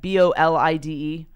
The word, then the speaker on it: bolide: One unexpected result to come from analysis of fireball data is the identification of a possible interstellar, how do you pronounce that? BOLIDE?